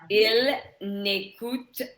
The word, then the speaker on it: n'écoutent: Ils n'écoutent pas. Voilà, ils n'écoutent pas. N'écoute And remember, E-N-T, you don't pronounce it here, Right.